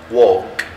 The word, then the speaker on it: walk: اولا عندنا على الشمال verb read يقرأ، write يكتب، talk يتكلم، walk يمشي. طبعا talk و walk عندنا ال هنا والال silent يعني لا تنطق.